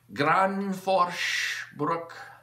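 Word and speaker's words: Gränsfors Bruk: And then up against stock Granforsbruck felling axe.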